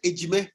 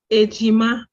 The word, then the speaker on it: Ejima: So that's why then in the East, we call them Ejime. Is it Ejime? Is it Ejime? Ejima. Ejima, okay.